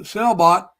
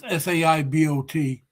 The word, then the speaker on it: Saibot: Well, the Noob Sailbot, or Saibot, however you pronounce it, it's Saibot.